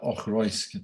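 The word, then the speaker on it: Auchroisk: That's it there in the chat, Ochroysk.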